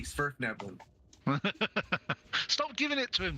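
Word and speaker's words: Svirfneblin: Smurf Neblin. Spurf with a V, Spurf Neblin.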